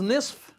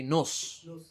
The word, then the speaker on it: نصف: What is nisf? Half. A lot of people don't pronounce that fat, keep in mind, on the word nisf. They just say nus. The real word is what? Nisf.